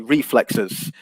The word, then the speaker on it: reflexes: pronunciation was accurate but the the word um reflexes so should rest on the first yeah it should be reflexes um so i think the stress on that